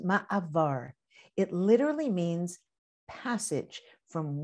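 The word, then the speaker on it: מעבר: Did you know that the Hebrew word for transition is pronounced ma'avar?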